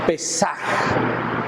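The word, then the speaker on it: פסח: del hebreo que es que se pronuncia como pesaje en hebreo a pesar y esto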